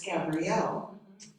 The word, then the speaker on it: Gabriel: So the angel Gabriel, whose name is actually correctly pronounced, I found out just in the last few months, Gabrielle, because Gabrielle is a she.